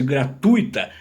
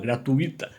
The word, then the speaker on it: gratuita: É o caso de gratuita. Se fosse gratuita, seria proparoxítona, seria acentuada. Como ela não é acentuada, ela é uma paroxítona não acentuada, então é gratuita. O acento fica ali no meio da palavra, gratuita, certo?